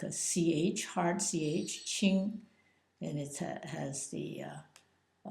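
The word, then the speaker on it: 戚: n in the uh second tone and the chi uh Ching is uh written like this and is pronounced Q like a CH hard CH ching and it has the uh uh first tone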